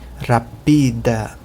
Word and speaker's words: rapida: Em português, a sílaba acentuada é o ra, rápido. Mas em Esperanto é o pi, rapida.